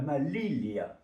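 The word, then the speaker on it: malilla: Eh bien, elle ne s'appelle pas la manilla, mais elle s'appelle la malilia. La malilia. Malilia. Vous voyez ce que je veux dire? Malilia. Vous voyez, manille. Bon, alors manille, donc en espagnol, on prononce pas pareil. La manilla. Hein, eh bien, le N n'en est pas un. Dans le jeu espagnol, c'est un L qu'il y a ici.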